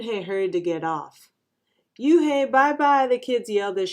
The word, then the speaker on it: Unhei: no no unhei corrected it's spelled u-n-h-e-i it's pronounced oh it's you hey the boy said like